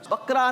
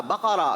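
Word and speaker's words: بقرة: बकरा नहीं होता, बकरा। क्या होता है? बकरा। सूरह बकरा। जवाब दुरुस्त मानते हैं जनाब।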